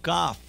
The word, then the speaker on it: kaf: Say with me, kaf. Kaf. Notice that it has a dagesh, so it's very strong. K, k, kaf. It's a chazak, strong k, k. But without the dagesh, it is soft. Chaf.